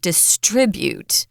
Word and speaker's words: distribute: it's in other places remember it's not distribute it's distribute the American pronunciation where the um heavy accent is on the TR distribute exactly so yeah some